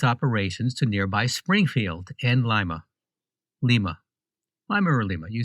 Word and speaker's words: Lima: So it's Lima, Ohio, but lima beans. Yes. All spelled the same way.